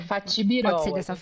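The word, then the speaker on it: Fatih Birol: nome dele, é o Faith Byro. Isso é Fatibirol. Pode falar Fatibirol assim. Tem em português.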